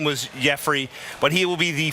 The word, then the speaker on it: Yefry: over the name factor it doesn't look like Jeffrey first off when you see it know it is spelled re f ry Ramirez Jeffrey Ramirez is the first